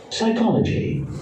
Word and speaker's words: psychology: Psychology.